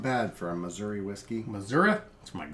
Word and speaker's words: Missouri: Fun fact, Missouri, or Missouri, if you want to say it that way, say it like that.